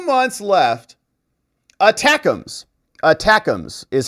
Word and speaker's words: ATACMS: But with 2 months left, ATACMS is how you say it.